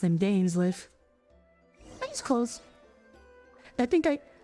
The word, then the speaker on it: Dainsleif: Oh, that's how you pronounce him, Dainsleif.